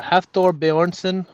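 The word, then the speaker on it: Hafþór Björnsson: Thor bour bjourson yeah half Thor Boron I think that's how they pronounce it if I remember correctly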